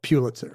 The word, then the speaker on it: Pulitzer: up in the dictionary, they will say it's pronounced Joseph Pulitzer, and they'll say that's the family's pronunciation. But then they will allow also Pulitzer, like if you want to say it the way the family didn't say it.